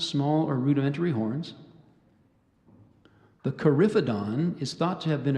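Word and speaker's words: coryphodon: elephant and sometimes small or rudimentary horns the carifidon is thought to have been a primarily vegetarian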